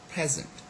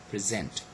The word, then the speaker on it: present: As a noun, we say present. Okay, as a verb we say present.